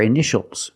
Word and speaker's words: initial: a patient in this word initial or initials more than one. We see ti a together. So the t is pronounced sh initial.